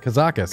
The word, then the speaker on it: Kazakus: All right, now we know how to pronounce it. Kazakus.